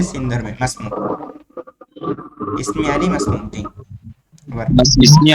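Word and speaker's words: ما اسمك: ভুল ধরে দেই ভাই মা ইসমুকাকে বলবেন মাসমুকা মা ইসমুকানা এই আলিফ উচ্চারণে আসবে না ইসমি আলিফ মাসুক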